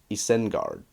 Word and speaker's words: Isengard: that I gave was eisenguard and you know if you applied the Elvis rules very strictly it would be Isengard which sounds awful right